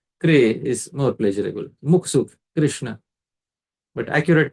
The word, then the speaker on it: Krishna: This Rkar is vowel in Krishna. So, but if we make it Kru, then the final sound you'll hear is Kru. And if you make it E, you'll hear Kri, Kri. But we don't want that. For accurate pronunciation, it should be Krishna, Krishna, Krishna, Krishna, Krishna. So this is how, that is the accurate pronunciation.